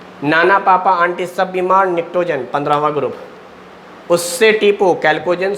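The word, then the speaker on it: pnictogen: 15वें group का नाम है निक्टोजेन, पी साइलेंट है, निक्टोजेन। तो 4 नाम याद हो गए।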